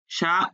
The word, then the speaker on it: chat: Le chat ou, হ্যাঁ, শা উ, কারণ আশ সাইলেন্ট, আবার শেষের টিটাও সাইলেন্ট, তাহলে শা উ, শা উ।